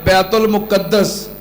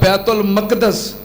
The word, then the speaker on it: بیت المقدس: ایک دا نام ہے بیت المقدس یا بیت المقدس، دو میں تلفظ ٹھیک نے، اور دوسرا دا نام